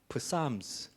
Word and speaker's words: psalms: psalms. 앞에 p가 있지만은 묵음이죠. 그래서 psalms라 합니다.